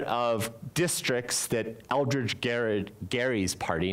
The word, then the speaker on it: Gerry: districts that Eldridge Garrard Gary's party not Eldridge Gary not Jerry if we mispronounce it now but we say Des Moines anyway so it doesn't really matter but it comes from